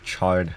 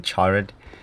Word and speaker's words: charred: pronunciation for that cuz I called it the chared chared it's a charred it's called charred but not charred and watch out when